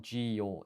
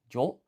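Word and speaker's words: じょ: So this is not ji yo, it's a blended syllable, jo.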